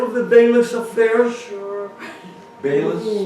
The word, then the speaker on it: Beilis: Beilis, spell it for me. That means B-E-I-L-I-S, Beilis.